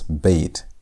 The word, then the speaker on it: bet: Our second letter is bait. Bait. And bait has a sound. Bait sounds like B as in boy.